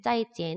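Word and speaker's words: 再见: 발음을 할까요 우리 하하 오른쪽에 있는 것은 짜이 찌 이라고 발음을 하죠 자 만났을 때야 헤어질 때가 아니고 만났을 때 어느 걸 고르면 될까요 왼쪽에 있는 밀러 고르시면 되구요 오른쪽에 있는 짜이찌엔 은 헤어질 때 하는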